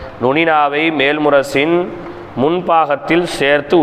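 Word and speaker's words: نون: noon noon சரி சரிங்களா noon எப்படி நாவின் நுனி மேன்முரசில் நுனியின் படுமாறு உச்சரித்தல் நூன் நூன் நூன் சரி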